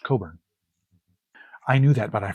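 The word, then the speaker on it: Cockburn: T-Bone Bernett, Richard Thompson, Suzanne Vega, uh Leo Cotkkey, Tish Hinosa, Bruce Cochburn, Coburn, sorry, uh John Hammond, Jerry Garcia, it reads as Cochburn, but it's pronounced Coburn.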